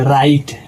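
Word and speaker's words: write: तो इसमें भी दोस्तों आर डब्ल्यू के बाद तुरंत आर आ गया है। और इसका नियम है कि डब्ल्यू के बाद आर अगर जो आ जाए तो डब्ल्यू साइलेंट हो जाता है। तो डब्ल्यू के तुरंत बाद आर आ गया। तो डब्ल्यू यहां पे दोस्तों साइलेंट हो जाएगा। तो इसको पढ़ते वक्त पढ़ेंगे राइट। डब्ल्यू को साइलेंट कर देंगे।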